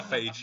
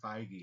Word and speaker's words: Feige: that how you pronounce it? Yeah. I always said Feige. Or Phage. My mum said that the other night, and I was like, "Mum, it's Kevin Feige."